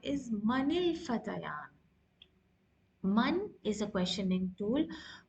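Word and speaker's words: فتيان: You can't say Manil Fatayani.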